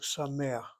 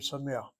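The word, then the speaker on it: שמח: The accent's on the next syllable, which is CVC.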